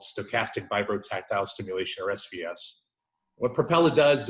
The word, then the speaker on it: stochastic vibrotactile stimulation: got it yeah yeah so the word is stochastic vibrotactile stimulation or SVS it was developed at Harvard University